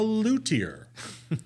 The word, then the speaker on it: luthier: So apparently I didn't know there was a silent H in luthier, and it's luthier, but I guess there's